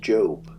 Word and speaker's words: Job: here at city's pronounced job no it's job j-o-b job would be like j-o-b-e you know like earlobe or something i know how to